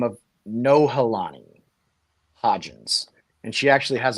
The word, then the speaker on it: Nohelani: by the name of Nohelani Hodgins, and she actually has a hyphenated name. It's like Nohelani Hodgins. But her name is spelled N-O, like no, not yes, but no, Helani.